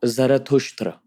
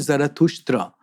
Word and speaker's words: Zarathustra: What's the story of, I want to get the pronunciation right, Zarathustra. Zarathustra. Okay. In the Avestan language, he is called Zarathustra.